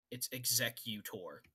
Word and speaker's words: Executor: I'm right on the pronunciation. It's Executor.